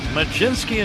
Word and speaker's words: Mlodzinski: For one thing, I hear a J in there, and I don't see it in the spelling.